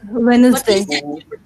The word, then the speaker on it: Wednesday: Wednesday. ওয়েডনেসডে ওয়েডনেসডে উচ্চারণ হবে না, ডি উচ্চারণ হবে না, ওয়েডনেসডে।